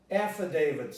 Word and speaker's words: affidavit: The stress is affidavit, affidavit. So this is an affidavit. The E becomes a schwa, affidavit.